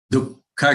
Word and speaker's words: दुःख: Dukkha shokamaya pradaha. You are aware that after du, the visarg is there, which has to be pronounced as half ka.